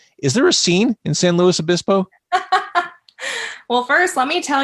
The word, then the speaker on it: San Luis Obispo: So you are on the West Coast, specifically, pronounce your city. San Luis Obispo, California.